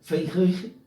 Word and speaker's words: Fenrir: O monstruoso filho de Loki, o lobo Fenrir, pronto, a pronúncia é essa, ele engolirá então o sol e Loki herdará o exército de gigantes, monstros e espíritos das profundezas.